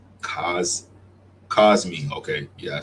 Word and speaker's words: Cosmi: Co, is it Cosby? Cos Cosmi.